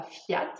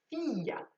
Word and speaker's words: Fiat: dernière ses filles oui le i se prononce on ne dit pas fiat mais on dit fille a donc c'est une entreprise